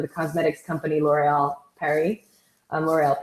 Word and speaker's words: L'Oréal: L'Oréal Paris is how they say it in Europe, is L'Oréal Paris.